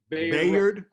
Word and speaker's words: Bayard: Bayard.